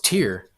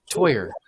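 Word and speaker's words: Týr: there and said if if you're an American it's pronounced like toi and er toyer okay all right I'm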